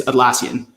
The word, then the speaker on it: Atlassian: do you say your company's name it's it's atlassian atlassian so you guys have a very sophisticated